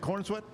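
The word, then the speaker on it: Corenswet: Uh 1993, David Corinsswat. Uhhuh. Is that how you say it? Corwat.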